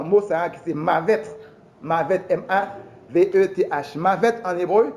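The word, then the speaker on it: מָוֶת: La mort en hébreu, il sorti dans le mot ça qui c'est mavet.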